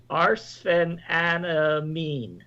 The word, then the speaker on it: arsphenamine: Okay, well, it looks like William Ferguson is pronouncing it out. It's arsphenamine.